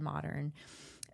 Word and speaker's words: MODEARN: So the business owner strategist, and then the other new offering that we're doing is called Modern. It's spelled MODEARN for earners, people in their earning years.